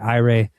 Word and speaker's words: AIRE: I think you should pronounce it AIRE.